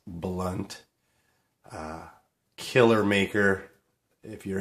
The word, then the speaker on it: Blount: it's brad blunt and it's pronounced blunt uh killer maker if